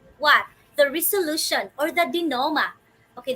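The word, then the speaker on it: denouement: the resolution or the dinoma okay this is how you pronounce this word dear wonders di noma not denounment or denoment okay so this actually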